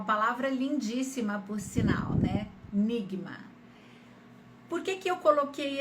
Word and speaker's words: Nigma: árabe egípcio é estrela Lembrando que no dialeto egípcio vocês não pronunciam o Jim que é uma letra do Árabe clássico como J né a gente fala G Então em vez de ser nisma como seria no Líbano ou na Síria por exemplo no Egito